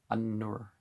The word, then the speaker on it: An-Nur: Well, An-Nur is how would you pronounce it typically.